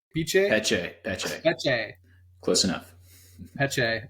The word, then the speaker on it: Peche: Peche? Peche? Peche, Peche.